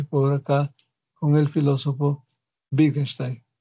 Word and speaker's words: Wittgenstein: acá con el filósofo Wittgenstein. Wittgenstein o Wittgenstein, ¿no? Aquí está su pronunciación, su escritura y su pronunciación. Muy bien, Wittgenstein lo pronunciarían en su lengua.